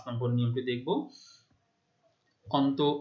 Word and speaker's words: দুঃখ: আচ্ছা, পরে আরেকটি উদাহরণ দেখো, যেমন দুঃখ, তাহলে শেষের অ, তার পূর্বে রয়েছে বিসর্গ, তাহলে শেষের অ এর উচ্চারণ ও এর মতো হচ্ছে, দুঃখ।